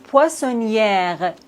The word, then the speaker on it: poissonnière: Mais regardez son mot. Poissonnière. Ici, on doit prononcer le R parce qu'il y a un e après le R.